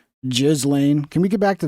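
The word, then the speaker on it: Ghislaine: Um, the fact that Jeffrey Epstein was Can we stop calling her Gillain and get back to her proper pronunciation, which is which is Jizlane?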